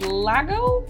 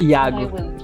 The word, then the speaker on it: Iago: and your name is lago is that right it's almost this uh yeah yeah almost most of the tutors mispronounce my name because it's not with an l it's with an eye it's iago go okay i thought